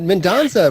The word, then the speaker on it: Mendonsa: Mendonsa.